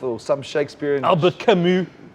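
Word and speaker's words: Camus: some Shakespeare and Albert kamu kamu yeah I thought they thought it was kamus which rhymes with what what yeah um no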